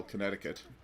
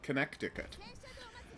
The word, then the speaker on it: Connecticut: the connected connecticut because that's how you spell connecticut with an extra c in there that is silent for no good reason don't know why i'm